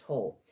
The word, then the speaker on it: whole: had the whole harmonious the sound of the H even though it's not whole is not its wh it's still pronounced whole so we have the alliterations